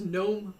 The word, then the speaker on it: GNOME: It's gnu gnome last time I knew. Gnu gnome, that's interesting. Yeah, it was always just gnome, just silent G gnome.